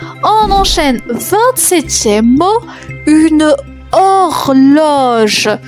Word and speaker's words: horloge: 27e mot, une horloge. Attention, il y a une lettre muette. L'horloge, une horloge.